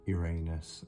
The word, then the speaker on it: Uranus: the wish to flow Uranus I think in other countries like um the states I think uh they pronounce Uranus as Uranus I have heard that a few times uh invention chaos and